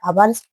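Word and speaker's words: hours: ही return after आवर्स। देखो ए छोड़ा तो ए आना चाहिए। लेकिन आवर्स एच का क्या है? साइलेंट।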